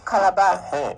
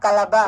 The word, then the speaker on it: Calabar: Pronounce it again, please. Calabar. Again? Calabar.